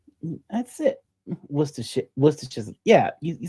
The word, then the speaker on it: Worcestershire: Okay, you're probably going to yell at me for trying to pronounce this. Worcestershire sauce. Did I say it right? That's it. Worcestershire.